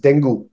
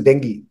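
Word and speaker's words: dengue: doctors even now d n gu e they pronounce it as denu when the right pronunciation is Deni Deni right so the first thing of the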